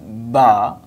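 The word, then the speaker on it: ب: And when we will join our lips, like ba, that is called ba, ba. So, ba, like B in English.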